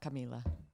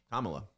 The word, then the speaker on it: Kamala: Oh wow, Kamala. not Camila. Kamala. That's Kamala. what I said.